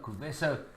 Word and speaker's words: Kuvesa: Let me pronounce it properly. Kuvesa.